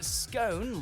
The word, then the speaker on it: scone: or is it scone you'll generally find scone like tone in use in US English but if you were